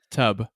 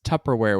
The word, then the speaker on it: Tupperware: Say the first syllable. Tub. Wrong. It's Tupperware with a P, not a B.